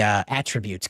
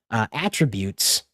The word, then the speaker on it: attributes: physical attributes of the attributes. Gosh, putting the emphasis on the wrong part of the word there. Attributes of the Ranger using it.